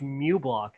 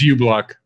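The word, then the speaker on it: uBlock: for a different thing I thought it's pronounced Mew block not you block because it Sam you naughty you know it's Yes Mother it's you block appear anybody everybody ignores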